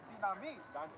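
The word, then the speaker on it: δύναμις: Now that word power in Luke chapter 10 and verse 19 is pronounced dynamis.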